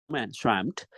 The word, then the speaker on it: swamped: next one arm swamped this is not pronounced as swam swamp I don't have any time myself so you have to pronounce SW t t sound swamped so I have been